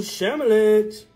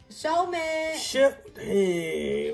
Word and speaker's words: Shelmet: Ooh, Shamalit. Shelmet.